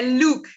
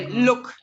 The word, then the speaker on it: Luke: O nome é Luke, né? Luke. É um pouco diferente, porque a pronúncia é look, do verbo, né? Look. Já o nome é Luke.